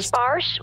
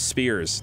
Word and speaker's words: Spears: you try that huh my name is Spears not spores okay what do you